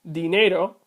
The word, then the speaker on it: dinero: The D on dinero is after an N, which is a nasal sound, causing that D also to be hard.